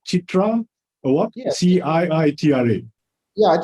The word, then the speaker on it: CIITRA: This, am I pronouncing it correctly? Chitra Award?